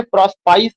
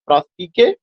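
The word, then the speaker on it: Prospice: इसका जो प्रोनाउंसिएशन है प्रोस्पाइस नहीं है, इज द प्रोनाउंसिएशन इज प्रोस्पीके।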